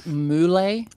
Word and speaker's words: Mulet: so rose rose gets very mad when people pronounce her name properly it's she insists it's mle she's been like very uh very insistent on